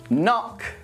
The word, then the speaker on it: knock: Now, here are some words when we don't pronounce the K. Knee, knife, night, knit, knob, knock, not, no, and knuckle.